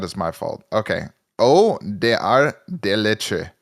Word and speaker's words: Ordre des Arts et des Lettres: Ordre des Arts et des Lettres. You're making a huge mistake, and that is pronouncing every letter. Yeah, that is my fault. Okay. Oh, des Arts des Lettres.